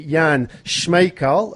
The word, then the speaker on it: Jan Smejkal: we have young gentlemen from Czech Republic named Yan Schmeichel I've I've got the pronunciation right him he's just kind of briefed